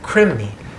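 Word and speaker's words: krimni: in our body they call them crimney k-r-i-m-n-i is how it's spelled when it's put in English but obviously this was a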